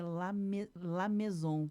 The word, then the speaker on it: Lamaison: Outro foi o professor Adroaldo Lamaison, que eu sempre chamei assim. E aí, um dia também, muitos anos depois, bem recentemente, ele disse, a pronúncia do meu sobrenome é Lamaison.